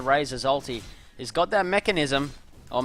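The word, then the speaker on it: Mekansm: also got the Razor alty he's got that mechanism or mechanism as it should be pronounced he's going for that Agony scepter as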